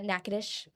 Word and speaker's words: Natchitoches: Okay, how do you pronounce the name of the town they're from? Uh Natchitoches.